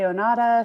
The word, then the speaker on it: Onatah: um do not want to butcher the name anata yeah so the name means of the earth and people pronounce it differently i say onada some people say it's like a full spectrum